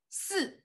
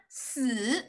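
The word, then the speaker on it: 死: And this one, si, means death. You see death, but their pronunciation, the tone is different. One is si, one is si. But in general, si sounds similar.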